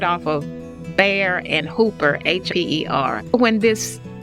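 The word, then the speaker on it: Bexar: was at butthereum and bear b-e-x-a-r is still there it just was recently renovated theorem b-e-t-h-u-r-u-m and bear b-e-x a r don't ask me where that pronunciation came from grandparents deserted house is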